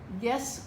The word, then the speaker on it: guess: This is the hard G sound. G. U is silent. E. S. Guess what today is?